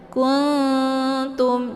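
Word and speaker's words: كُنتُم: Kuntum, jangan kung ya.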